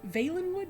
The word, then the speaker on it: Valenwood: Valenwood. Veilenwood. Yay. Veilenwood. That's how it's said.